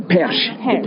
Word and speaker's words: Perche: And is it Perche? Is that how you say it? The Perche. The Perche. Yeah.